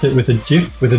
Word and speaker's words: GIF: Hero says, sounds like a pillock if you pronounced it with a GIF, with a J. Well, that's he created it. He said you should pronounce it with a J. GIF.